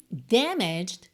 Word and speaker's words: damaged: palavra muito comum para pacote packaging a embalagem damaged danificada e atenção a pronúncia damag damag Porque como a gente não